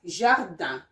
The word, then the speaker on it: jardin: And in another second word is jardin. Jardin, you can see the sound ja is here, and which means garden, okay? Garden. My garden of flower, of roses, mon jardin de roses, okay?